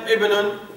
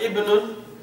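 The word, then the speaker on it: ابنٌ: But when it is preceded by a word, the initial alif, that hamza, is dropped in the pronunciation.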